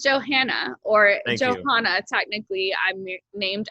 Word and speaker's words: Johanna: a soft a but down here it's joanna or johanna and i just that drives me nuts and then people leave the hl and there's an age and you need to pronounce it and so that drove